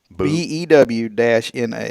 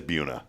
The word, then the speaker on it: Buna: Did she enunciate like BOO-NA, like Buna? BEW-NA. That's it. Oh, then it's Buna. So it is Buna. BEW is pronounced Bew.